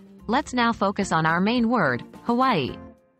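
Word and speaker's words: Hawaiʻi: That's the okina in play, which is a unique feature in the Hawaiian language. It's a glottal stop, similar to the pause in oh.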